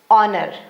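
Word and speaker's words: honour: यहां H silent है। इसीलिए इसे ओ जैसे पढ़ा जा रहा है। Honest ऑनर।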